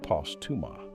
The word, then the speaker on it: Postuma: Then, in 2019, Ron Postuma, pronounced Postuma, at McGill pooled 1,280 patients across 24 centers in 12 countries, the largest RBD cohort ever assembled.